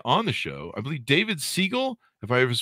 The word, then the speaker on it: David Siegel: we have today on the show i believe david segal if i ever pronounce uh name pronounced directly david do i